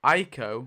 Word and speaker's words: Aiko: We've got Aiko. That's how you say it. It's not Akio, it's Aiko.